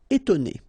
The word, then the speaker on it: étonner: Okay, so first you've got this accent aigu, et, and then you've got to, and then né. Étonner.